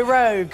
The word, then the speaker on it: rogue: We have the rounded O vowel sound and the final voiced G.